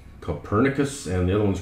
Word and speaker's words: Copernicus: Okay, this is Copernicus. That's how you pronounce it.